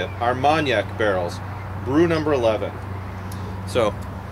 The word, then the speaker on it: Armagnac: that's how I that's how you say it armanac barrels Brew number 11 so there are now